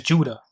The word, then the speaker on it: Whydah: But as we can see here, a PhD scholar writes that the people today in that town still pronounce their town in their native tongue as Judah.